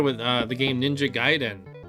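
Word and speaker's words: Gaiden: uh the game Ninja giden I had a friend all calling it ninja gayen ninja gayen I was like no it's giden giden I was a pronunciation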